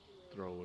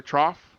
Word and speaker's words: trough: water bowl this water throw as well how do you say it water trough that's it is water trough okay they're coming out